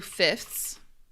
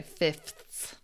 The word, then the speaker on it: fifths: You can also say two fifths. It's a little bit harder to say fifths. It's a little hard to say. Most people don't pronounce this second F.